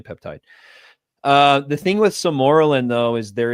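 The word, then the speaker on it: sermorelin: Yeah, most people pronounce it samoralin. Sorellin usually samorin.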